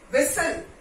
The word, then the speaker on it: whistle: Whistle, whistle. T again silent over here.